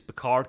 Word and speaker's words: Picard: French name everyone goes Picard it's probably not it's picar it barely pronounce the d card but it basically pronounced the D that's the way the French do it and I love that